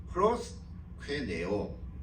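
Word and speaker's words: προσκυνέω: 신약에 보면 헬란말로 되어 있지만 조금은 발음하기가 힘들지만 프로스퀘네오 이렇게 띄어서 읽으면 좋습니다.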